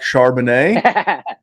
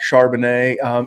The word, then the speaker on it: Charbonnet: It is Zach Charbonnet. And if you call him Charbonnet on a podcast, we will ridicule you. But a guy like Zach Charbonnet, even Zach Evans, a guy that I like